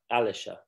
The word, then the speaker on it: Alicia: Like militia, but Alicia. Like militia, yeah.